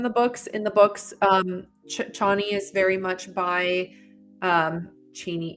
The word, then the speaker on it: Chani: after I read the book, the narrator says Cheney.